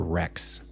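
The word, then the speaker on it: Rechs: They call him Emperor Rex, but it's spelled R E C H S. So, if you're German, it would be like Rex, something like that.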